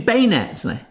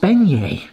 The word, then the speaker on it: beignet: Hey everyone, we're gonna do bay net! What the heck is a bay net? - I know what a bay net is. - Yes. It's an incorrectly pronounced beignet.